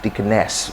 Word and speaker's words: deaconess: got number two uh deaconess deaconess i think you get you get it well so some uh in britain you can find people pronouncing it as dickness which is also correct deaconess we have the